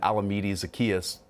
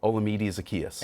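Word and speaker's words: Olamide Zaccheaus: james brad would be lined up one-on-one and alameda zacchaeus yep yeah responded with a 91 yard pronounce that correct by the way olamide zacchaeus pronounce it right proud of you um and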